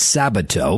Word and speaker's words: Sabato: I butchered Larry's name. It's Sabato.